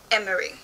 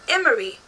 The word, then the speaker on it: Emery: girls, and it had Emery, E-M-M-E-R-Y. And at first I was like, how do you pronounce that? Like, you know, so I put it in the Google Translate and it said Emery.